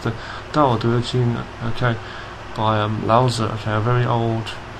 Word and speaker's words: Tao Te Ching: Okay, sometimes pronounced the Tao Te Ching, but it's the Tao Te Ching.